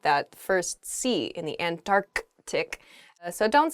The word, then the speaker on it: Antarctic: south is the Antarctic there's sort of like almost a hiccup in the word there Antarctic Oh in a sentence